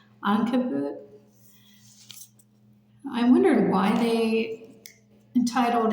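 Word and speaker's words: عنكبوت: In Arabic, it's pronounced Ankabut.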